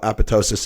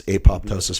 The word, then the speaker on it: apoptosis: it it it can't go through you know apotosis it can't do anything you know all that stuff it's apoptosis for people that are wondering how it's spelled